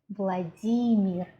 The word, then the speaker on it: Vladimir: the world for example what we call as Vladimir in English we call our Russian President Vladimir Vladimir never say lady meal if you're in Russia